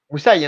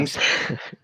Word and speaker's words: Moussaï: Moussaï, hein. Comme, Moussaï. Comme moussaillon sans le yon. voilà. Moussaï.